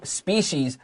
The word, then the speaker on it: species: So species is always plural. Circle the S at the end. And listen to the pronunciation. Species. 这个 C-I 发 S-H.